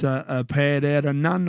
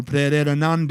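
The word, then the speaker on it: Pererenan: So if you're here in Bali, you can go there in person, and that's Pereiranan or Pereiranan, depending how you want to pronounce it.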